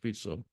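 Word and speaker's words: Fico: fito his name is fito fic but it's pronounced fito he um has turned he's kind of an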